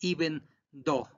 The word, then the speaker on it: even though: significa aunque ya hubieron y vendo y ese sin ese se pronunciado el segundo es even though no pronuncien la gen y nada de eso y vendo forma forma